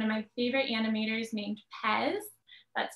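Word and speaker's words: Pes: animation by one of my favorite animators named pez that's spelled p-e-s and if you want to look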